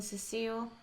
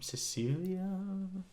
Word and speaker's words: Cecilia: Because Cecilia is like a very song name. Cecilia. I have never heard of a song. Rhymes with necrophilia.